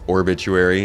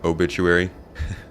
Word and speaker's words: Orbituary: could help with that everyone always mispronounces orbituary it's orbituary instead of obituary I was I was